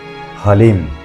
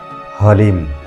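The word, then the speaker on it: ह्लीं: हलीम उच्चारण बहुत ध्यान से करें। हलीम इसे धीरे-धीरे और सही तरीके से जप जपे ताकि मंत्र की ऊर्जा जागृत हो।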